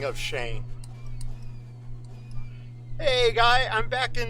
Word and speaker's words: Cheyne: f'ed up you know my name is spelled c-h-e-y-n-e but it's really pronounced s-h-a-n-e so it kind of